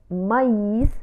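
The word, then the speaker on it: maïs: لكن إذا قلنا M A I تريما S مايس تعني الذرة. هنا يتغير النطق، تنطق الحرف الذي فوقه تريما لوحده.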